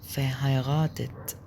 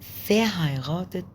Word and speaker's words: verheiratet: طيب تالت حاجة او رابع حاجة معانا او رابع حاجة خامس سؤال اسمه sind Sie verheiratet.